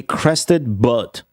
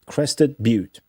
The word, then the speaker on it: Crested Butte: The answer to this is going to be Crested Butte, but it's pronounced Butte.